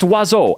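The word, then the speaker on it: oiseau: It's pronounced wazo. And yes, I will die mad about it. Wazo hits every vowel in the French alphabet and manages to only be pronounced with two goddamn syllables.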